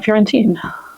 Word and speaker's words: Florentine: And also, I didn't have a Florentine. Now, I will say some people do pronounce the E at the end of Florentine. I think that's a regional variation.